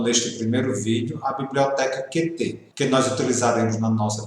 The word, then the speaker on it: Qt: Qt é a pronúncia indicada pelos desenvolvedores, pelos criadores dessa biblioteca. Qt, para relembrar a palavra em inglês cute, que quer dizer fofo, bonitinho.